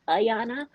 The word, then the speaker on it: Ayanna: Okay, but first, my name is actually pronounced Ayanna.